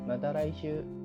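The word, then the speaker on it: また来週: Diucapkan sekali lagi mata raishu. Hai mata raishu, panjang ya, shu.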